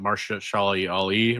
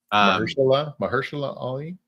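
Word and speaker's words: Mahershala Ali: Yeah, he I mean that's what I am terrible at pronouncing his name, but Marsha Shali Ali, right? Mahersula Ali.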